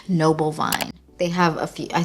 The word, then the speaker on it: Noble Vine: Veno. No, every single time I say this name wrong, it is Noble Vine.